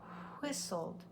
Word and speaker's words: whistled: the wind no vibration whistled whistled has a silent T another thing we'll teach